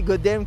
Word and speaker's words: Godamn: On le prononce comme ça? C'est juste, Goddamn, ouais.